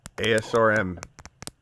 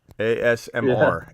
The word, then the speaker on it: ASMR: Elliott number one pick asrm whatever it's called ASMR ASMR I always say it wrong SRM ASMR you are asleep